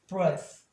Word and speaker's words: breath: 그래서 얘를 무성음 발음으로 해주고 얘는 동사니까 유성음 발음. 그래서 breath. 얘는 breathe.